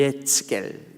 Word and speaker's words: 에스겔: 말씀을 드리겠지만 2s 개리 라고 하는 이름 e 에스겔 이라고 발음합니다 히피 말이 예측 1 예수께 에스겔 이라고